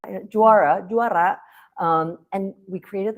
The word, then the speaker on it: JUARA: In Indonesia, Jara is pronounced Jara. Jara.